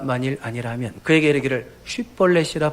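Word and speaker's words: 쉽볼렛: SH 발음이 안 돼. 쉿볼렛이 안 돼. 쉿볼렛 해봐 그러면 C볼렛 그러니까 S를 하나만 붙여서 발음한단 말이야.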